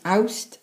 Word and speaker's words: Awst: August in Welsh is Awst, spelled as A-W-S-T. September in Welsh is spelled as M-E-D-I, and is said as Medi.